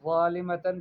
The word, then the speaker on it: ظالمة: قولی، بلکہ کہیں ظالمتن، ظالمتن بالضاء لا بالزاء، ضا سے ہے، نرم ہے، زا سے نہیں ہے، ٹھیک ہے۔ تو آپ